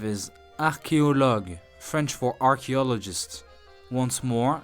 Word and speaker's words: archéologue: Word number 5 is archéologue, French for archaeologist. Once more, listen and repeat. Archéologue.